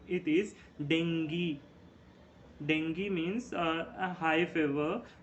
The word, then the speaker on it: dengue: We call it as dengue. Okay, and dengue is not the correct pronunciation. It is dengue.